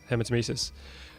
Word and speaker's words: hematemesis: Oh, Hematemesis. Did you notice how I actually pronounced that correctly for the first time ever?